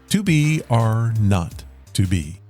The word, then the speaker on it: 2BR02B: It is titled 2BR02B, but it's pronounced 2BR not to be.